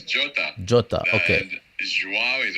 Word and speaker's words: Jota: Diego Jota? Is it Jota or Jota? Jota, it's He's Portuguese. Portuguese, so it's Jota.